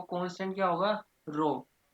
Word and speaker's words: rho: इसको हम रो कहते हैं, RHO। प्रोनाउंसिएशन क्या है इसकी? RHO, जिसको कहते हैं रेजिस्टिविटी।